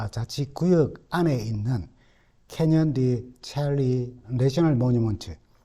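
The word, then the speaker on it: Chelly: 구역 안에 있는 캐년디 첼리 내셔널 모니먼트 어, 우리는 영어로 그냥 첼리라고 그렇게 잊어는 볼쉐이라고 읽어야 한답니다. 아, 거기 전망대를 둘러볼 기회를 가졌습니다.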